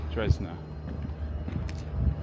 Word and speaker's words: Dresdner: And of course Dresden Bank being here in Dresden. Dresdner. I think I've been saying it wrong all these years.